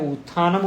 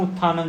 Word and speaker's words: उत्थानम: लिखा भी ठीक है डबल महाप्राण है लेकिन वैल्प से प्रोनाउंसिएशन सेम है उत्थानम उत्थानम दोनों उत्थानम है लेकिन सारणी से बीच